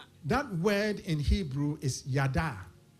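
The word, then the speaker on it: yadah: The giving thanks, the word that is translated in our text as giving thanks, that word in Hebrew is yada. It's spelled, if you're writing those, Y-A-D-A-H.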